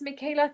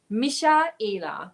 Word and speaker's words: Michaela: I always tell people it's Michael with an A at the end. You spell it Michael with an A at the end. That is my name. It's Michaela. Michaela.